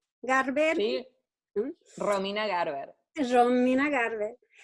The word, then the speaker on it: Garber: Romina Garber is, así se pronuncia? Garber?